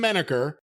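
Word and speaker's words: Manacher: we'll talk about it sam meniker although it's pr it's spelled m-a-n-a-c-h-e-r that well that's actually the correct spelling sam manniker versus hi lee now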